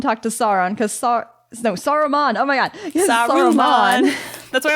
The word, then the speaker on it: Saruman: go off and talk to Sauron because no Saruman oh my God that's why I always say